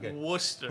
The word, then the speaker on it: Worcester: but that you can't say it yeah okay Worcester Worcester Polytechnic Institute yeah it's it's really it's